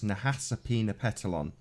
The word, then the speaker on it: Nahasapeemapetilon: ma p ET IL o n so it's Nahasapeemapetilon apoo so I was pretty place so how's